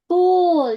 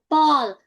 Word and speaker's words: pool: Pool, not Paul.